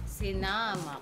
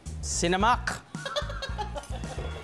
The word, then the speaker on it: sinamak: the guilt with camac sinamak sinamak second syllable sinamak It's sinamak sinamak may sasabihin pa ba